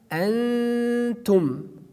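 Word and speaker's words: أنتم: after that Ta, like Antum, Antum. We do not say Antum, Antum. Just we pronounce here Noon, but not very frankly. We like we hide it.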